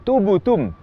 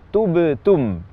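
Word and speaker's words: تبتم: Atau kadang cenderung ke dhammah, misalnya waktu mengucapkan kata tubtum, terucap menjadi tubutum. Qalqalah ba cenderung ke dhammah, ini juga tidak dibenarkan. Harusnya tubtum. Atau cenderung ke kasrah, misalnya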